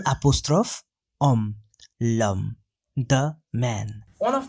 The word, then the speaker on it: homme: Because homme is singular and starting with a vowel sound. H is not pronounced in French. So, L apostrophe homme, l'homme, the man.